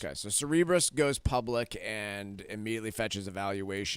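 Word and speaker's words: Cerebras: last week the chip company I found out it's actually pronounced uh Cerebrus not Sarah Brass okay so Cerebrus goes public and immediately fetches a valuation of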